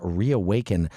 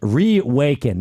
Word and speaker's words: Rewaken: Uh, but we have Lenny Swerjen, the CEO and founder of Reawaken Life. Reawaken, not Reawaken. By the way, it's spelled R E W Ake.